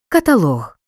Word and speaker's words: каталог: легкий відчим фартух дочка наголос на третьому складі у словах паховий та чия соломинка заробіток каталог у реченні може виділятися